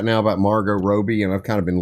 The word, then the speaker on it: Margot Robbie: How am I supposed to pronounce it? It's Margot Robbie.